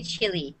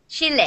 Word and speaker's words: Chile: Chalet Chile I love I love how Sebastian says Chile because I used to say chili I'll be honest I used to say it like like chili like the spice and then when Sebastian make like me like I'm from Chile it'd be like I I am so saying it wrong so that's Chile Chile